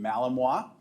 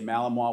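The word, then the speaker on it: Malinois: Bal is a 17-month-old Belgian Malamoa. I say Malamoa with pride because it's taken me about a month to be able to pronounce that right.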